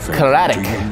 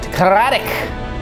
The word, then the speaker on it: Karadoc: Karadoc. That's how you say it. Karadoc.